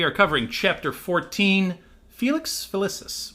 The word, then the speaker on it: Felicis: covering chapter 14 Felix Ficus which always gets me I want to say felices every single time me too but it's spelled f l i c i Ficus whatever Julie is with